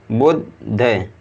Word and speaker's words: बुद्ध: अगला शब्द है बा में छोटू की मात्रा, तो बू आधा दा है और फिर धा है, तो आधे दा को उच्चारण बा के साथ पढ़ेंगे बुद्ध, बुद्ध।